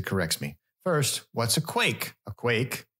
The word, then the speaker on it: quaich: me first what's a quake a quake sort of pronounced like Quake it's q a i